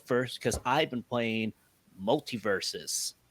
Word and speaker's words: MultiVersus: So I will go up first because I've been playing MultiVersus. Oh, I actually got it right. I've been pronouncing it multiverse, and then I forget about the us. So I'm like, multiverse us.